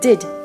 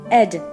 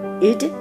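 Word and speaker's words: -ed: Attention, cette terminaison ne se prononce jamais ed, comme dans bed. Ed, en anglais, c'est le diminutif de Edward. La terminaison ed peut se prononcer de 3 manières différentes, soit id, soit t, soit d.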